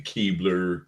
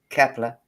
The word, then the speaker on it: Kepler: Is it the Keebler? Keebler one. Kepler. Kepler. That's it. I I I'm sorry. I I pronounced things a bit wrong because of because of my twang.